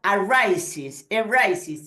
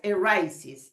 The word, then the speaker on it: arises: But if the verb ends with an S, like arise, like finish, like fix, an S or an X, for instance, yes, the E is pronounced.